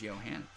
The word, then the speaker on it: Johanna: my daughter's going to be a G if her name is Johanna. Note to self. To self. Name daughter Johanna. Pronounced Yo Hannah.